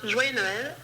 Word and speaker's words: Joyeux Noël: Hello everyone, today we're going to learn how to pronounce Joyeux Noël in French.